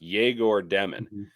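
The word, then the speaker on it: Egor Demin: and both of them are supposed to start jagor demon and that's how it's pronounced jagor demon jagor demon is starting alongside D Hall and alongside Canon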